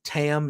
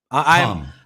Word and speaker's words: Tam: Number 5 was Tam Nakano. Is it Tam, right? Tom. Tom. You pronounce it like Tom, like a male Tom.